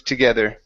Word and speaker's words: together: E ending the branches together the branches together okay give me a good th instead of together get together together okay one more time so your tongue needs to be between your teeth instead of together it's